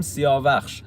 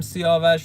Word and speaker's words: سیاوش: اسب سیاهیو انتخاب می‌کنه پس هم سیاهوشخش هم سیاوش توی شاهنامه هست و هر دو تلفظ درسته آقا سیاوش که به